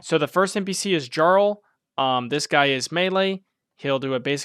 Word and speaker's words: Jarl: Jarl is pronounced Jarl dummy.